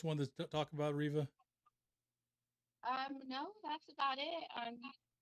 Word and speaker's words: Riva: It is Riva, right? Yes, Okay. you're saying it correctly.